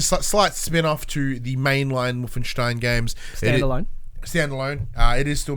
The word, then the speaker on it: Wolfenstein: Wolfenstein. Making it sound like a Jew surname. That's how you pronounce it.